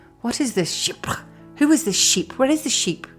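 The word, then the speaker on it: chypre: presence of musk and if you want to know how to say it just imagine the word sheep and then put an accent on it sheep I remember when I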